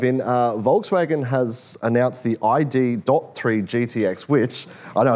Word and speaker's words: ID.3: Volkswagen has announced the ID.3 GTX, which, I know it's a mouthful. The dot is silent.